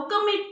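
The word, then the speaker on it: calm: education you are getting काम काम spelling C ए एल एम लेकिन अगर के सी का इस्तेमाल क भी करेंगे ना फिर ल कहां है इट इ अ साइलेंट नोड इ इट म्यूट है ना ल काम यानी की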